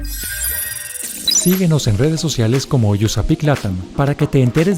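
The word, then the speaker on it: USAPEEC: Síguenos en redes sociales como USAPIC LATAM para que te enteres de nuestros eventos y las actividades que realizamos. USAPIC se escribe USAPEC, USAPIC LATAM.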